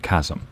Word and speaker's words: chasm: pronounced km Luna oh the H is silent in Chasm it's pronounced Chasm thanks Luna don't waste